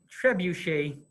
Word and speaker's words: trebuchet: the little screen here and that is a trebuchet is the way it's pronounced I just I just call it trebus